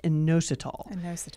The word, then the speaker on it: inositol: as me and uh and that topic is inositol my first question is did I even pronounce that right you did you did good